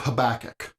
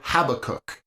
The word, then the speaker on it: Habakkuk: this section we'll study the book of habakkuk or Habbakuk both pronunciations are acceptable and I really don't wish to argue which is better first the background issues